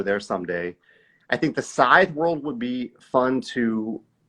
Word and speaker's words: Scythe: Okay, and I love that you pronounced it right. Scythe.